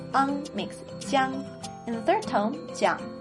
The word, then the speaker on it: jian: Then JI + YI + AN makes JIAN. Not John, but JIAN.